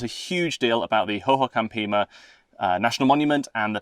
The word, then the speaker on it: Hohokam: We've learned a huge deal about the Hohokam Pima National Monument and the people that lived there.